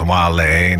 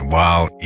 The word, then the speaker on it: Wale: The boy, Wale, pronounced Wale, not Wale or whale or whatever, of Washington, D.C., grew